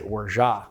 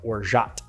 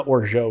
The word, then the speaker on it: orgeat: that camp and so I say orja as opposed to like orat but 50% of the people are in the O orja camp and then 50% of the people are in the orat camp and I'm firmly in the Ora Camp I'm definitely not in the Oro Camp that's that's not a thing I don't think that's